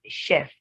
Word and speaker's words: chef: would be wrong because in that word the ch the word is of a french origin and the ch is sh then we have the